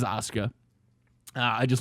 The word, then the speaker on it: Asuka: Right now we have Nia Jax versus Auka. Um, and I know some people are gonna really criticize me for that that pronunciation. Asuka. It is Asuka.